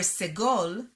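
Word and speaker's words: סגול: the same as kamatsu in modern hebrew segol and sere are pronounced the same e however in ashkenazi hebrew they are distinct where segol is pronounced e sere is pronounced a but to native hebrew speakers these distinctions are non-existent different from english vowels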